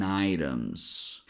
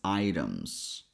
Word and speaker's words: items: Action items. And I'm not sure if you noticed when I said it, but in this word here, T sounds like a fast D sound. So, we pronounce it as items.